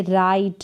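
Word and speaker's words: write: फिर यहाँ पर देखिए राइट, राइट का मतलब क्या होता है, लिखना। यहाँ पर डब्लू जो है ये साइलेंट है, डब्लू आर साथ में आते हैं तो डब्लू मोस्टली साइलेंट रहता है।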